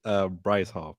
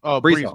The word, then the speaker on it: Breece Hall: It's Breece Hall, and then I won't even pronounce the tight end. So I didn't say Breece Hall. My bad. I say Bryce Hall, but Breece Hall.